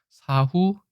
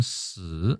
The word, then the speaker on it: 死: 우리는 사, 중국은 스. 물론 넉 사자는 스 이렇게 돼 있지만 일본은 시 이렇게 돼 있어서 한중일 삼국이 모두